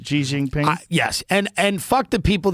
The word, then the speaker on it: Xi Jinping: Xi Jinping?